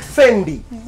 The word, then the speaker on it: Fendi: The Italians pronounce it Fendi.